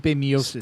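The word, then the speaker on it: Miočić: the Daniel Cormier, how do you say it, Miocic? Stipe Miocic.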